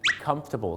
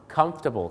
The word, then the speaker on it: comfortable: ก็ คือ Comfortable ครับ หลาย คน ก็ อาจ จะ ออก เสียง ว่า Comfortable ซึ่ง ก็ มี ฝรั่ง บาง คน นะ ครับ ออก เสียง ว่า Comfortable นะ ครับ แต่ ที่ จริง แล้ว นะ ครับ ถ้า ถูก ต้อง เ นะ ฮะ เข จะ ออก เสียง ว่า Comfortable ครับ Comfortable ไม่ ใช่ Comfortable นะ ครับ เหมือน กับ